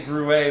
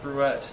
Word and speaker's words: Gruet: We tried to say grue, but somebody said nope. It's made in New Mexico. You have to say it right. Wait, in It's New supposed Mexico. to be gruette.